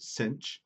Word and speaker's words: sinh: Sometimes it's pronounced as sinh.